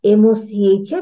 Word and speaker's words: Mocha: So although it's named as MOCHA, but it will be pronounced as Mocha.